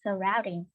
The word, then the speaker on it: surroundings: Okay, so we call it surroundings. We call it surroundings, okay? So this word, stress on the second, the first. Yeah, that's right. It's stress on the second one.